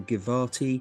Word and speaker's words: Givati: There seem to be photographs of is it pronounced the Givati Givati Brigade, Brigade, yeah.